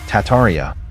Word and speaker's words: Tartaria: Tartaria, originally pronounced Tataria without the first R, is the name of the pre-Molian Empire that originated in northern Asia before spanning the entire northern hemisphere.